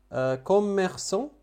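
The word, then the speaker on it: commerçant: كوميرسون تاجر، كوميرسون تاجر. إذن سي سي دي لولا هذه الإشارة كنت لفظتها ك لأن بعدها أ، ولكن وضعت إذن مدام لها هذه الإشارة فتلفظ س. كوميرسون.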